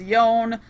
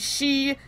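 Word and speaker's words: 四: anyone who doesn't know, four sounds a lot like the word death in Japanese. Alright, we've been through this. It's one pronunciation. They normally use yon. If you use she, it sounds like she-ni. She-ni is death. Well, one of the words for death.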